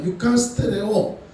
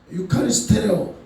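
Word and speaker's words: εὐχαριστέω: 축사하다라는 말을 이렇게 따져봤더니 헬라어로 유카스테레오 발음이 어려워요. 예, 유카리스테레오 이 발음이 어려운데 이 말 의미가 뭘까 찾아봤더니 감사하다라는 감사.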